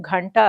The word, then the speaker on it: கண்டா: தெரிஞ்சுக்கலாம் இது கண்டா அப்படிங்கறதுதான் இந்த கண்டா அப்படிங்கறதோட சரியான ஒரு உச்சரிப்பு கண்டா அப்படிங்கறது மணி கர்ண அப்படின்னா காது